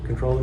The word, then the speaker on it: comptroller: from an accountant probably the controller the Comptroller controller whichever way you want to pronounce that out of the company